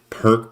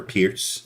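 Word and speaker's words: Pirc: into many type of perk positions or pierce if you want to say it correctly there right and then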